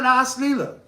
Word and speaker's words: Ras Leela: All rasas are present in the Ras Leela. If you see Rasa Leela, if you see it written in Devanagari, the word Rasa has a short A. Ras Leela, there's a long A because it means Ashvadan.